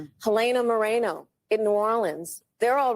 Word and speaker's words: Moreno: may to say that it's not pronounced Moreno, it's Moreno.